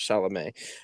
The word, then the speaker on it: Chalamet: is timothy i pronoun i'm pretty sure it's pronounced chalamet um who apparently is making the rounds on